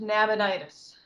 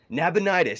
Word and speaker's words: Nabonidus: It is pronounced Nabonidus. Nabonidus. Okay, thank you so much.